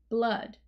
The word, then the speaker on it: blood: with a short u just like cup blood uh up blood so it's not a